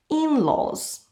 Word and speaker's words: in-laws: immediate family members and we put the stress on the first vowel in-laws we can also talk